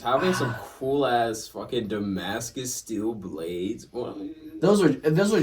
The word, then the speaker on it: Damascus: Yeah, I don't know how it's pronounced. It is Damascus.